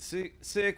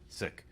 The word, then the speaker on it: Sikh: not understand i mean is it sikh is it sick how do you pronounce it sikh yeah uh what is it